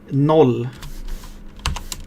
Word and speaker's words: noll: Let's do like, this is the Swedish word that means 0. So let's do that, actually. And it kind of has the same pronunciation. Null. Noll is the correct pronunciation there.